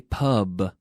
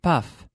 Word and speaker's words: pub: We say pub, not puff. I've heard so many people say puff, but no, it's a B, pub.